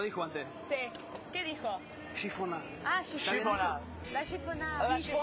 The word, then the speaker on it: chiffonade: Chiffonade. Ah, chiffonade. La chiffonade. La chiffonade. Chiffonade se escribe, pero ¿cómo se dice posta?